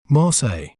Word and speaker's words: Marseille: Both the L's are silent. Marseille.